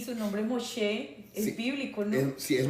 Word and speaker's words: Moshe: No, es Mosé. Y a gente le cuesta pronunciarlo porque no sabe como el el origen hebreo del nombre, ¿no?